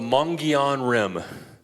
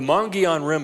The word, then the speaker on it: Mogollon Rim: right, my wife tried to teach me to pronounce it right. It's called the Mogollon Rim. Does anybody know what I'm talking about? So we're known for the Grand Canyon, but the Mogollon Rim is probably the most influential geological feature in Arizona.